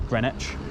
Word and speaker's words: Greenwich: royal green witch observatory you definitely pronounce the w hard in greenwich and uh as you